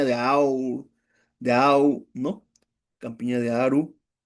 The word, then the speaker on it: Aru: Campiña de Aru, Aru, lo pronunciar bien. A de avión, R de ratón, U de unión.